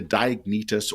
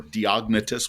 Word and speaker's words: Diognetus: The last one I want us to look at is the epistle to Diognetus or Diognetus. We can actually pronounce it either way.